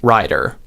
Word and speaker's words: rider: flap in both cases the difference between these two words is this diphthong this vowel sound in the first syllable the I and the I vowel sound so you can say that to yourself writer rider rider rider what's changing is the vowel this I sound that